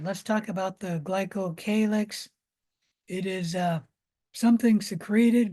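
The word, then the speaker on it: glycocalyx: of glyco Kix is it's also called the glyco calx both pronunciations are correct uh the capsule is a neatly organized glycocalix that has a lot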